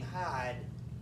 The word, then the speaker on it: Hyde: than two things and notice the name hide is spelled with y which is how you would but it sounds like it's spelled with an eye so it's that's that's